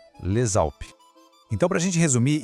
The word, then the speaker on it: les Alpes: Le termina com um S que a gente não fala e Alpes começa com uma vogal. Nesse caso, a gente junta as duas palavras e o S passa a ter som de Z. Então, a gente não fala Les Alpes, e sim Les Alpes. Escuta a ligação, Les Alpes.